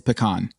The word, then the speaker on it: pecan: It's puh-con.